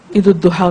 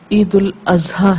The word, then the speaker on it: عید الاضحیٰ: جی ہاں، بعض لوگ عید الاضحیٰ کو عید الضحیٰ کہتے ہیں، جبکہ یہ عید الاضحیٰ ہے.